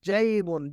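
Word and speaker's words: جيب: یہ عربی کا لفظ ہے جو کہ ہم اردو میں استعمال کرتے ہیں، لیکن اس کا تلفظ چینج کر دیتے ہیں جب ہم اس کو بولتے ہیں. تو آپ جیب بولتے ہیں. جیب جیب عربک میں جیبن.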